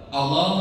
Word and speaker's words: Allah: Allahu akbar, Allahu akbar, Allah. Gak boleh, tapi gimana? Allah, huruf itu berat, lam di lafaz Allah itu yang takim ya, itu dibacanya harus berat. Minallahi syai'an, Allahul ladzi huwallahu, huwallahu.